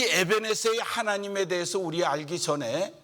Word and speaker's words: 에벤에셀: 발음이 이게 히브리 발음인데 처음에 연습도 안 했는데 정확한 발음들을 하시네요. 에벤에셀. 이 에벤에셀의 하나님에 대해서 우리 알기